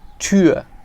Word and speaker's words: Tür: a tour, and then the word Tür, which is door. Okay, Tour and Tür. So basically for the word tour we just use the English word, but the sound is exactly like tour, like U and Tür.